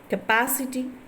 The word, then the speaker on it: capacity: Words ending in suffixes ity are stressed on the antepenultimate syllable, or the syllable that counts third from the end. Capacity, yes, capacity, and sagacity,